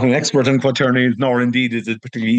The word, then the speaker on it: quaternions: used a word, and I'm probably going to mispronounce it. Is it quaternions?